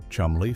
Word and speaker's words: Cholmondeley: confused American audiences that it was actually pronounced Chumley Fanshawe, following the peculiar British